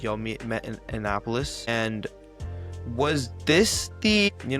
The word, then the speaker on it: Annapolis: such a big convention like in Annapolis, I pronounced that right? Annapolis. Yeah, Annapolis.